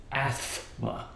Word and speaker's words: asthma: I spell it wrong that it's not Asma it's Asma with a T in it for some reason and